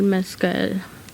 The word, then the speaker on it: Mescal: Yeah, Paul Mescal.